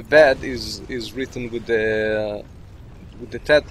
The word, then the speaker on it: Tet: Tet, and you don't pronounce it as a T or a thing. You pronounce it like the Arab pronunciation.